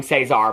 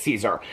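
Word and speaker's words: Cesare: And I had looked up the author who is Adam I kept I kept on pronouncing his name Cesar, but I guess it's Caesar.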